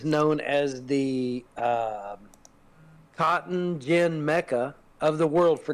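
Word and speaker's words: djinn: it says he's the Jin DJ I NN in this is in the book and it says DJ I NN pronounced Jin MH uh which is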